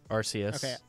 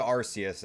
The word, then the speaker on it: Arceus: Pokemon Legends for Arceus Arceus I wanted someone else to say it first I didn't want to say it wrong um I've called it RCs at first yeah so Pokemon Legends